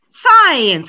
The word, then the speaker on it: science: mix them up since science and again since one syllable science has two syllables so i've been here